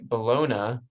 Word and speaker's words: bologna: he did record My Bologna bologna bologna um I say bologna but the song says bologna because it rhymes with Sharona so we'll call it